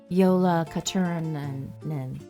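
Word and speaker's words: Jólakötturinn: Jola Katarin. I think that's pretty good and it's probably way off. Yeah, the J is actually pronounced yo. Yeah, yolola.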